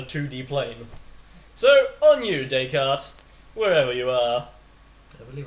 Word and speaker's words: Descartes: plane so on you Descartes Wherever You Are I believe I used to pronounce his name Discounters yeah yeah yeah yeah